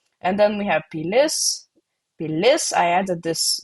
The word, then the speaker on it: pilis: Pilis, I added this like a bit. This is not a dot, this is stress mark. And the stress mark in last syllable usually means it's feminine.